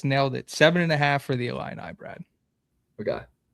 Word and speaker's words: Illini: 7.5 for the Illini, Brad.